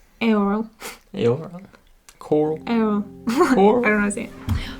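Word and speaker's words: Eorl: name very well but it's e-o-r-l i keep wanting to say earl earl but it's like aoro coral oh i don't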